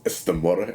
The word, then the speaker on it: Namor: of Namor, the Submariner, or Namor, as you keep telling me it's pronounced in the movie. Sure, it's Namor, and he's got a big schlong which they had to CGI down apparently.